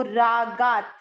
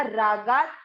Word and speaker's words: रागात्: रजो रागा, इसके बाद है आधा त, तो रागात। ये देखिए दो मात्राएं हैं, रागा और इसके साथ आधा तपड़ा रागात।